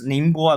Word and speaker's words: Ningbo: I also pronounce Ningbo as Ningbo because a lot of my foreign friends they can't pronounce bo, so they say it as Ningbo.